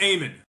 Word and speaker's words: Eamon: Uh, it's somewhere in between. It's Aean. So, you don't have to say hello to me, but it's Aean.